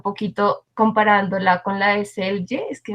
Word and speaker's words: Selye: comparándola con la de Selye, es que no sé si es Selye, Ya ya por la que pronunciación, Sail, algunos dicen Celia, a otros les dicen como Sail, también la encuentras.